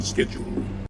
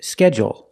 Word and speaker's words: schedule: They say schedule, schedule. And they put the stress only on the first syllable.